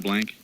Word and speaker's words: Blanc: Is this Mel Blanc? Mel Blanc, yes. Mel plays Barney. Mel It's Blanc.